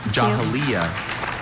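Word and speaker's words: Jahiliya: and rich vocabulary Jahalia and is a noun.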